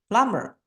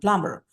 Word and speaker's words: plumber: Yeah, the B sound is silent. Plumber. Plumber. So it is like plum and then ended with R sound. Plumber.